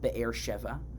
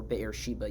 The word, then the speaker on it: Be'er Sheva: Isaac settles himself in a new area called Be'er Sheva. We'll talk about, or Be'er Sheba, you might be familiar with the pronunciation.